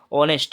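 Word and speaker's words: honest: वैसे यहाँ पर देखेंगे तो हॉनेस्ट में एच साइलेंट है, ओ आ रहा है, हॉनेस्ट में, है ना, ऑनेस्ट में ओ, तो यहाँ पर ये आपका स्वर में आ रहा है, इसके आगे अन लग जाएगा।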